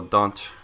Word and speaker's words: Dante: Moving on, we have got the team of the season, Dante, or Dante is how I've been told to pronounce it by Micho and Sam.